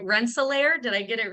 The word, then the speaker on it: Rensselaer: there is from uh sorry if I'm not pronouncing this right Rensselaer did I get it right Rensselaer Indiana yes awesome welcome team Rensselaer happy to